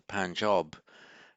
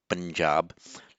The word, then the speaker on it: Punjab: So the Panjab, which in Hindi and Urdu pronounced Punjab, literally means the 5 waters.